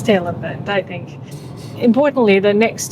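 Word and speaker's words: Tailem Bend: A tailium bend or tailm bend. It's on the sign. Just flick the camera. They can make their own pronunciation. I think it's tailor bent. It's tail and bend.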